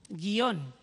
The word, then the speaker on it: guion: de los países andinos esta esta palabra no la como bisílaba sino que la pronuncian como monosílaba guion Y entonces ahora ellos